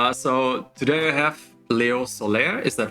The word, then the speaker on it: Léo Soler: So today I have Léo Soler. Is that right? Did I pronounce Yeah, your name right?